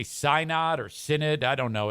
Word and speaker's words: synod: Adam says it's pronounced synod.